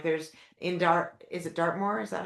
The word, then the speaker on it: Dartmoor: younger women like there's in Dart is it Dartmoor, is that how you say it?